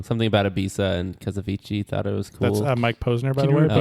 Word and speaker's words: Avicii: Can you spell that? I'm singing it in my head right now. Avicii is A-V-I-C-I-I.